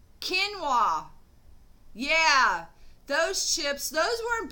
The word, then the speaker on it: quinoa: And it's not Kanye, but I know what it is. I just can't get the pronunciation for it. Quinoa.